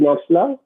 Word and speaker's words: Knapp's law: Uh, K is silent. Okay, so Knapp's law.